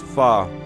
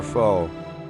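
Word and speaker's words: phở: Pronounced fa never fo.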